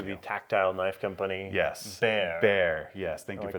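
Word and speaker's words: Bexar: Pronounce the pronunciation of I'll say Becks are the wrong way. Uh, when referring to the county in Texas as Bear, uh, it's carryover from when Mexi Mexico owned Texas.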